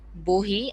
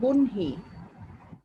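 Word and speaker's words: বহ্নি: অগ্নি, অনল, ও অগ্নি, অনল, আগুন, বহি আর হচ্ছে মিস বৈশানর। হ্যাঁ, বৈশানরের আগে কি বললে? বহি বা বহি, ওটার উচ্চারণটা মিস সঠিক বলতে উচ্চারণ হচ্ছে বনহি।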